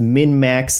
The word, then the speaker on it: MinnMax: That was MinnMax, like XMAS, right?